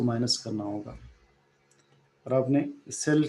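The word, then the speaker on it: psi: इसे हम प्रोनाउंस करते हैं स राइट पी साइलेंट है।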